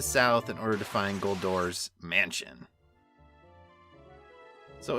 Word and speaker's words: Goldor: And I will be pronouncing it Goldor in this episode because I'm sure my